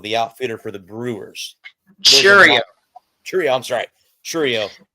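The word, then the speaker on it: Chourio: And I'm going to go with Jackson Chirino, the outfielder for the Brewers. Churio. I'm sorry. Churio.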